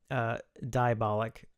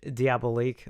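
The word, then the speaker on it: Diabolik: one that chastised me for mispronouncing Diabolic DVD. Because I was pronouncing it Diabolique, like the movie, and that's a bad habit I have.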